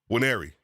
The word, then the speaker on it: Nwaneri: And then we also have, not with the end, but the end's there, but you don't pronounce the end. Nwaneri.